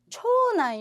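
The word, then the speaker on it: 長男: 자, 10번, 초난 요리모. 자, 남자는 난세이지만 여기서는 난이라고 발음해요.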